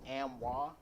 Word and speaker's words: AMWA: It's pronounced Amwa, Mhm.